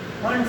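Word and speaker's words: Pfund: तो last one होती है फंड series, P फंड, पी से ऐसे लिखते हैं पी फंड सीरीज, ये फिफ्थ है, पढ़ो इसको, पी साइलेंट है इसका, फंड सीरीज can be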